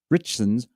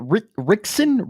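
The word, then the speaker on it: Ritchson: Richson's was in How do you say his name? Is it Richson?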